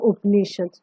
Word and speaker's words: Upanishad: Okay, so their ideas and teachings were also recorded in the Upanishads. Upanishad, as you can see, the word Upanishads is basically it contains three syllables. That is Upa, Ni, and Shad.